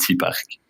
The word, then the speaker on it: cPark: Et j'espère que je le prononce correctement, ou bien C-Park, comment on le prononce ? Oui, c'est très bien. C-Park, voilà.